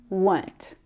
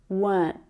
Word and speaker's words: weren't: Were not becomes weren't. And you'll notice that in my accent, I don't pronounce that sound in the middle there. Weren't, weren't, weren't.